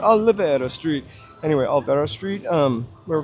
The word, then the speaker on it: Olvera: I don't know why I add an extra whatever vowel syllable in there. I want to make it an Italian spot. Olvera Street.